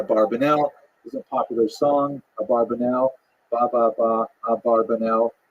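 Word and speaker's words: Abravanel: I'm following nany here probably correct is Abra vanel that's probably how he pronounced it more or less with my Canadian accent his years are 1437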